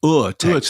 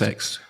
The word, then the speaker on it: Urtext: The prefix Ur, which is U R, obviously, is pronounced somewhat like the uh O U R in tour. So, it's Urtext. Urtext.